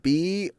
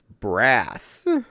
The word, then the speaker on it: BRAS: Think of the word spelled with B-R-A-S. I said Yeah, that makes sense. bras. I was apparently wrong. It's brass.